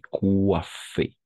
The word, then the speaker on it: coiffé: Tu t'es coiffé. Tu t'es coiffé. N'est-ce pas? Tu t'es coiffé. N'oublie pas O-I, toujours wa.